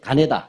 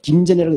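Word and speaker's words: 金田: 예, 노란색 가네다. 네. 김전이라고 읽지 않습니다. 일본 사람들의 입장에서 읽어야 되잖아요.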